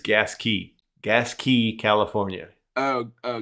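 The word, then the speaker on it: Gasquet: H So gasket mike, the proper way to pronounce that is gas key.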